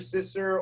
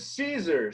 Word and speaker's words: Siser: bought it online and you're saying Siser, Sister, or Sister, it is Siser.